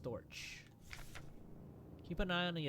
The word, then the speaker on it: Storch: Oh, that's pronounced Storch.